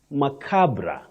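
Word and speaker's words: macabre: But now Betty, this word you say macabra. Macabra. Not ma. Not macabra. Macabra.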